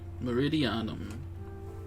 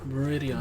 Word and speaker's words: Meridianum: Meridianum. So I've been saying it wrong, but it's whatever. Meridianum.